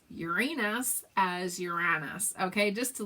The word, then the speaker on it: Uranus: Uranus, you thought it was supposed to be, I don't know, accent on the U. I think I'm saying it that way, aren't I? Accent on the U, but maybe I'm not.